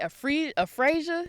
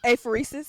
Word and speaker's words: apheresis: Because every page I turned, it was now I got, what was it, aphasia? Is that how you say it? Apheresis.